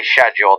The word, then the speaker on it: schedule: to remember six six every time you say shedule I still think you're goofing I don't I can't even tell do all English people say sh or just some some have adopted the American pronunciation because we're exposed to so much American culture now that we've kind of taken over that way of saying it the other differences I